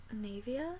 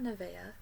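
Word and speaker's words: Naevia: name it's my name this next shade is navia is that how you say it it's not nevaeh because that's heaven backwards it says n-a-e-v-i-a-navia sure sure next shade is patina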